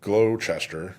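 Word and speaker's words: Gloucester: so if you're in glow Chester I believe is how you say that County um and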